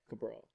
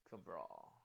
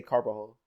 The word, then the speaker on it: Cabral: That's how you say your last name? Yeah, Cabral. Cabral. Yeah. I used to say it wrong when I was like younger too. Oh really? I used to say Carbajal.